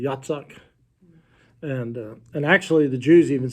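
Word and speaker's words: יצחק: Yeah, Yitzhak. That is how they pronounce it, or how it would have been, almost like Yahtzee, Yitzhak.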